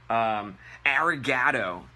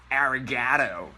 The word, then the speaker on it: arigatou: it sounds like - all right next up arigato the correct way to say this is oh you got soul are you guys know means thanks in Japanese she is arigatou arigatou gozaimasu arigato gozaimasu totally different so thank